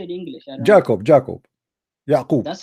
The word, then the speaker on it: Yaqub: Yaqub. That's how you say it in English? Yeah. It's Yaqub in Arabic.